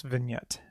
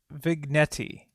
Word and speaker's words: vignette: Uh, let's let's I'm gonna call this vignette. V Vignetti. Vignetti. I always have to say that because I don't know how to spell it.